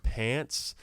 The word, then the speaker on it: Pance: We were called Pants, spelled like dance.